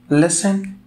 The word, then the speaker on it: listen: listen to stories حرف T في listen silent لا ينطق.